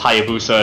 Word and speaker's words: Hayabusa: The only reason I know it's pronounced Hayabusa is because of the Halo 3 armor.